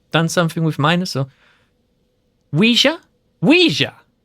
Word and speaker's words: Ouija: Like the French oui. Oh, and then ja. Or ja or ja? Like a German ja. Oui, ja.